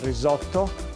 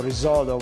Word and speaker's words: risotto: We're actually specializing in risotto. That's the right pronunciation, or risotto, which would be the not so right pronunciation.